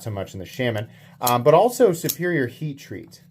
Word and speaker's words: Shaman: reason to get, like, I have many Spyderco Shamans. I think this is my sixth, and I am intentionally pronouncing it wrong. I've gotten so used to saying Shaman, this is how I say it.